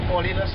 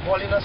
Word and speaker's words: Paulinus: It's Paulinus. YouTube. I think only if it's Paulie. I haven't been on YouTube a while. And how do you spell that? Yeah. Paulinus. P-A-U-L-I-N-U-S. All in us.